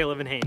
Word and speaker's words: Olivenhain: Oh, we say Olivenhain.